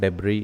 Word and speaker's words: debris: so here it is s is the silent letter in that debris is the correct pronunciation